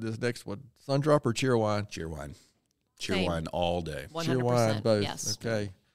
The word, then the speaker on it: Cheerwine: Didn't know how to say it when I got here. I was like, Cheerwine? It's Cheerwine. Cheerwine. Yeah. You got to say it very quick.